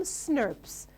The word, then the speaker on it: snRNP: We call it SNRPs. That's how you pronounce it, but actually the way you should write it is this way.